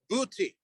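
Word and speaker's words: Buiti: was attacked by those known as the booty uh we can we can phonetically spell b-u-i-t-i uh these are the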